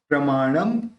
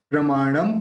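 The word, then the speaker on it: प्रमाणं: प्रमाणम, यहाँ पे ये जो बिंदी उसका म लेंगे। प्रमाणम क्योंकि आगे प है तो बिंदी का तो म निकलेगा।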